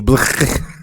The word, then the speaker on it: Blckk: It's Black, right? I'm saying it right. Yes. Yes, Yeah, it's Black. finally somebody who doesn't call me Blckk.